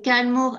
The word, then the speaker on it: Kylemore: C'est Kalmor Abbey. Ça s'écrit Ouais.